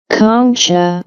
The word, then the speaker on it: concha: So in anatomy a nasal concha let's see the pronunciation concha or concha or plural coni conci